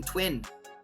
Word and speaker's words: TVVIN: Now, we're also launching Twin. Hopefully, I should add, that one hasn't been confirmed yet, but we're in talks with them. And they're a gold trading platform that's being built on Cardano. That's spelled TVVIN.